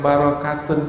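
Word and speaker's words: بركة: Cuma kita ketika membacanya, ketika kita membacanya barokatun itu taknya tamarbuto, maka kita akan menyebut berkah. Tapi apabila kita nyebut berkat dengan tak, maka jadilah pakai T dalam bahasa kita.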